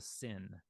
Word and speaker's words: sin: sha it's a shin if the dot is over the left side you've got the S sound it's a sin and um yeah I